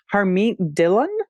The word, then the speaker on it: Harmeet Dillon: And AG, I'm going to look to my co-host to help with this pronunciation, but this is from The Guardian. The San Francisco lawyer, Harmeet Dillon.